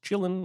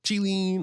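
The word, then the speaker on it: qilin: also yes we know there's some disagreement on if it's pronounced chilling or chilean or killing but they say chilling in the movie so we're going with that and the rest of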